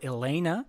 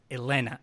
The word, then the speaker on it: Helena: So I'm not going to say or Helena, but rather and Helena.